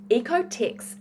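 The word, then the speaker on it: OEKO-TEX: other clothes brands, is something called Ecotex 100, and it's spelled OEKOTEX 100.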